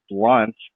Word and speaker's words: Blount: gravy or my name BL o UNT pronounced blunt on on itunes or